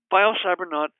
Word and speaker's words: biocybernaut: biocybernaut calm and that's bi o cy ber n aut rhymes with astronaut and has a similar spelling and again a biocybernaut